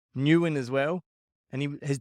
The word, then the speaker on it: Nguyen: and he he's English F me and he pronounced his own name Newan as well and he his dad never corrected